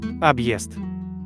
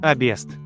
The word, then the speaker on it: Объезд: Объезд, обест, съезд, сест, объятие, обятие, подъезд, подъезд. The hard sign sort of adds a new sound between the letters. The sound is Е.